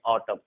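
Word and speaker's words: autumn: जैसे यहाँ पर हम पढ़ेंगे ऑटम, column, condemn, haem, dam, यहाँ एम के बाद एन है, यानी एन यहाँ पर साइलेंट होगा।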